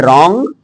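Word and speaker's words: wrong: R से पहले W silent रहता है, जैसे रॉन्ग मीन्स गलत, रैपर, आदमी कहता है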